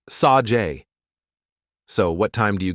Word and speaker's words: Sage: Looks like Sage. But it's Sajay, Amy insisted.